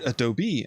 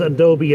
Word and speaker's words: Adobe: with people exactly exactly just remember is adobe and not adobe that's a totally different